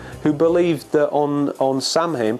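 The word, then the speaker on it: Samhain: believed that on on Sam him pronounced soen that the physical world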